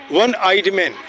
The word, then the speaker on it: one-eyed: One-eyed man. Sound O is there here. It is vowel, but the sound is one.